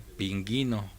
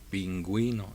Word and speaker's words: pingüino: a críticos por ejemplo si leemos estas palabras con las reglas normales deberíamos leer ping ino y no pero cuando le añadimos un signo diacrítico sabemos que ahora la u este la podemos pronunciar pingüino ya cambia la palabra